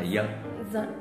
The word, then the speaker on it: giờ: Chữ giờ cũng thế đúng không? Là giờ.